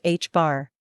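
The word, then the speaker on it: ħ: measured in units of the reduced Planck constant H pronounced h-bar for quarks a measurement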